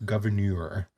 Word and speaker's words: Gouverneur: too hard to pronounce it's like a french spelling uh it's g o u v e r n e u r governor oh he's not just